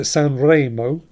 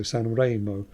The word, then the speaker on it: Sanremo: But mentions that Sanremo should pronounce with an E like enjoy. So Sanremo, not Sanremo.